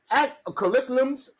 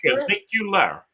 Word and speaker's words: Caligula: After the Caligulums, what the hell is that? Caligula. It's pronounced Caligula.